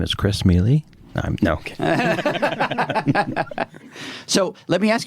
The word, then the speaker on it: Mele: No, Mele is how we pronounce it. Mele.